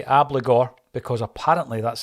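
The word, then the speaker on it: Abildgaard: Moy Turnbull McCarthy bernabe I'm going to say obligor because apparently that's how you pronounce it Maeda forest and Ralston we keep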